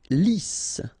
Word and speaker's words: lisse: Lisse. Double S here, so it's really a strong S. Lisse. Okay, don't insist on the final E. Lisse.